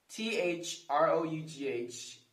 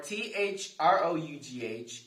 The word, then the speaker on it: through: okay here we go for t-h-r-o-u-g-h it's pronounced through through for t-h-o-u-g-h it's pronounced though though so cough rough bow through